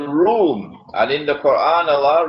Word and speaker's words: Rum: It is pronounced as R-O-O-M, Rum, but the Arabic word Rum is, it describes Eastern Christianity.